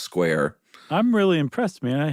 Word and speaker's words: Squier: It is spelled Squier, but he swears it's pronounced Square. I'm really impressed, man. I had not come up with that one. Or he swore it was pronounced Square.